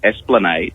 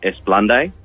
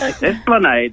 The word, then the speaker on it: Esplanade: corrected me, was the Esplanade. It's a street in Semaphore, Yeah. and for many years I pronounced it Esplande.